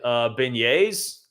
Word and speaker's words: beignets: I tried beignets, right? That's how you pronounce it.